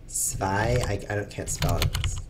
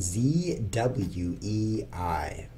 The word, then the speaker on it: Zwei: It's spelled Zwei. Although I'm sure it's like Zwei because it's German.